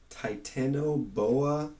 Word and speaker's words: Titanoboa: A 60-million-year-old relative of the crocodile was the likely prey for Titanoboa, I believe is how you pronounce it, the largest snake ever known to live.